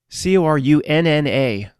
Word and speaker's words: Corunna: Corunna, pronounced just like the same thing, Ontario.